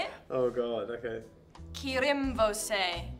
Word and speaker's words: Kirimvose: Kirimvose. It says with a rolled R. Kirimvose.